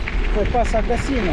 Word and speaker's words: Gassino: La pronuncia del paese cade su I. Gassino e non Gassino, come dicevo prima.